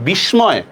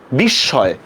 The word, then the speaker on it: বিস্ময়: বিস্ময়, তো খেয়াল করেন বিস্ময় শব্দের উচ্চারণটা কি হবে, বিস্ময় না, এটা বিস্ময়। উচ্চারণটা কিভাবে, বরস্কা বি তালব্যস্য হসন্ত তালব্যস্য অন্তস্তীয় হসন্ত, ঠিক আছে?